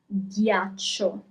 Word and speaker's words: ghiaccio: You read it as ghiaccio, ice. Ghiaccio. Okay, so you have GH at the beginning, gi, because you have an I right afterwards.